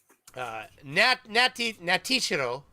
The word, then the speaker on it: Natishiro: Natishiro, which is how Team Skeptic has told me I'm supposed to pronounce it, has given $2 Canadian because apparently he lives up in here where I do.